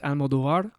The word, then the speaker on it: Almodovar: Depends on how you want to say it. Do you want to say it like an American or you want to say it like the actual Puerto Rican? Because I don't even Well, say it's it your that way. both. So I just say Almodovar, but if you want to say it like my grandfather's Almodovar. Oh, wow. So, Oh, you got to roll that R.